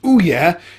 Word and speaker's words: OUYA: Anyway, it's spelled like this, it's pronounced OUYA, and it's a new gaming console.